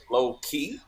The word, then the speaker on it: LoKey: and that way it'll be pronounced low key so that's really how it should be pronounced it's low-key because we got a fun